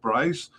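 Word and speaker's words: Brys: I think it's BR R YS maybe pronounced Bryce.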